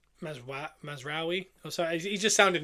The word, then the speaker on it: Mazraoui: Validity and Mazraoui. Bruno kept laughing the way I said it. He said I'm saying it wrong. How does he say it? Mazraoui.